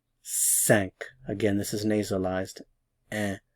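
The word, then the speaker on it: cinq: uh D D D D D D K sank again this is nasalized and sank sank sank this can be pronounced one of three ways if it's just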